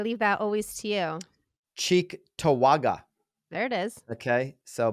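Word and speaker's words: Cheektowaga: you want to get you wanna you wanna pronounce the next part because I I leave that always to you cheek tawaga there it is okay so Buffalo New York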